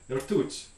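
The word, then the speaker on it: ртуть: This is the word for mercury, the element in Russian, rtut. And I'm not pronouncing this beautifully, but it's my closest approximation, rtut.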